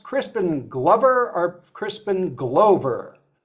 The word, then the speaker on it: Glover: Is it pronounced Crispin Glover or Crispin Glover? Lover, Glover. Glover? Like hover, to hover is like Glover. Okay. Or lover, you know.